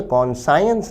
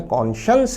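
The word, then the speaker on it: conscience: उच्चारण पर ध्यान दें ये कॉन साइंस नहीं है कॉशंस है मैलिनेटर है अति हानिकारक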